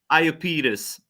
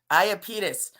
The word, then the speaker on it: Iapetus: But okay, how do you pronounce it? Let me help you. Iapetus. What is it? Iapetus. Iapetus.